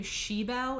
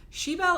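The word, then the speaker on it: Sibeal: is about Sean's daughter I think you say her name sheel it's like s i b e a l and um I owned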